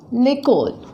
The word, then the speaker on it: l'école: L'école. We'll pronounce them together. Le and the vowel, the sound, they come together and they're pronounced as one.